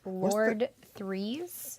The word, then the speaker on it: Lord Threes: So the droid is named Lord Threes. What's the Like name? spelled with a number. Well, his actual title is LRD-33, so we call him Lord Threes.